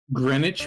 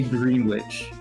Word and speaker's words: Greenwich: Greenwich mean witch. Yeah, that's the English thing. I know it sounds stupid. I do not say green witch.